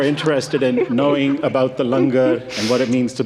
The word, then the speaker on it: langar: for all of you it's spelled langar but it's pronounced lunger so after the service